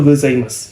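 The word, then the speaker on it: ございます: ya Ohayo Selamat pagi jadi di sini kan tulisannya tetapi diucapkannya itu gozaimasu jadi umurnya melebur saya kalau bilang oh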